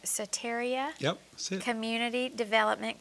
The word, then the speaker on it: Soteria: And Jerry is an executive director, and make sure I'm pronouncing this right, Soteria.